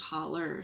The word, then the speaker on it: hollow: I thought about Heather's Craft and Holler, and holler is if you're from Georgia like me, or Sabrina in Kentucky, the word hollow is pronounced holler.